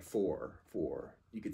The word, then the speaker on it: fort: f o r and you don't pronounce the T the T the T would go unpronounced it's one of the